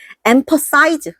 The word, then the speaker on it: emphasize: 여기를 thize로 발음해야 돼. 자, empathize 이렇게 발음해야 돼요. 요거는 그쵸? 이거는 emphasize. 이건 size. 파. 얘는 떠. 발음이 다른 거야.